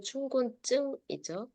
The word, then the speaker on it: 춘곤증: 졸린 것을 춘곤증이라고 합니다 춘곤증 발음은 춘곤증이 춘곤증 몸에 졸린 증상이에요 몸에